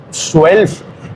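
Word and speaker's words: zwölf: Se escribe con Z, luego sigue la W, luego sigue la O, suelf, la O, pero con puntitos, la O umlaut, suelf, la Z, W, O umlaut, luego la L, luego la F, Z, W, O con diéresis o umlaut, LF, suelf. Está muy difícil el suelf,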